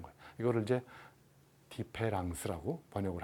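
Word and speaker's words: différance: 영어의 디퍼런스, D-I-F-F-E-R-E-N-C를 E자를 A로 바꾼 거예요. A-N-C. 그래서 이제 불어로 디페랑스라고 번역을 발음을 한다고 하는데, 아무튼 이 말의 의미는 차이, 영어의 차이를 시간, 공간적으로 여기서 그냥 딱 결정하지 말라는 거예요.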